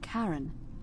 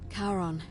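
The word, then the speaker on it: Charon: is a little off the name you heard wasn't karen it was c h r as in caron the ferryman of the dead karon who in exchange for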